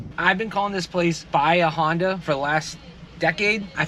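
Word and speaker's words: Bahia Honda: It's not Bia Honda like you're at a Honda dealership. It's Bia Honda. 10 years and we now finally have the right way to say it. Bia Honda.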